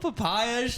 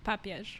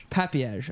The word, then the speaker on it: Papież: papay to the pro did I say it right not even close no all right how do you say your last name let's start with that papage papage papage on the